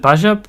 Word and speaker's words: Baja: is a good question and how do you pronounce it is it Baja Baha Blast okay I had to double check because